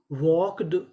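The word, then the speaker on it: walked: डब्ल्यू एल के वॉक यहां पे जो हमारा एल है वो भी साइलेंट रहेगा। इसका भी उच्चारण नहीं करना। तो मीनिंग बनी वॉक्ड वॉक्ड।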